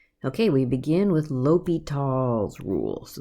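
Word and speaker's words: L'Hôpital: okay we begin with ly tall's rule so this is how you say it ly talls rule so ly tall's rule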